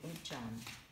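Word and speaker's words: uncam: Uncham. Uncham. Tout simplement. Le U se prononce OU, toujours. Uncham. Et le C, je l'ai dit, se prononce CH.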